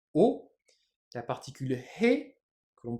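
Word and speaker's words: を: mais qu'on prononcera wa la particule wo qu'on prononcera o la particule he que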